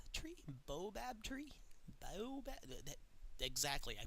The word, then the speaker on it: baobab: Even if it's putting in like one of those baobab tree? Baobab tree? Baobab? Exactly, I pronounced it correctly.